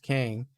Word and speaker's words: Qeng: Kang with the QENG, which is still pronounced Kang, is a company that bought it from Stark in the comics.